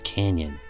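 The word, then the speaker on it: cañón: Interestingly, the word cannon in Spanish is spelled C-A-N-O-N and pronounced like the English canyon.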